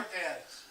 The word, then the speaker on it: Cortez: First syllable? Cortez. First syllable is stressed.